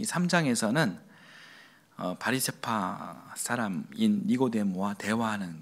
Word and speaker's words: 니고데모: 그러니까 니고의 헬라어식 발음은 니코스입니다.